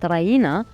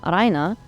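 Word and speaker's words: Raina: in its Anglo-Saxon productions, directors insist that the name of the main character be pronounced Ryena rather than the softer and more beautiful Aina, which is indeed the correct way to pronounce a Bulgarian name.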